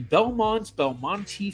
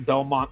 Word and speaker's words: Belmonte: E at the end, which I've always pronounced Belmonte. I've heard a lot of other people say it like that, but then I've also heard a lot of people just say Belmont.